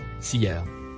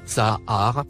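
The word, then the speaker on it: سحر: Ils ont ajouté une lettre alif, que vous voyez en rouge, sur le mot, sier. Ils ont changé complètement sa prononciation, et sa signification. Ils l'ont rendu, Sahar, au lieu de Sier.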